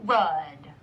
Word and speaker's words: rud: So the rud really means road, but it rhymes with mud, so it's kind of fun.